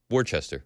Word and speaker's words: Worcester: And Worcester is spelled Worcester. Worcester. That's right. Worcester. Yeah. Just like the sauce.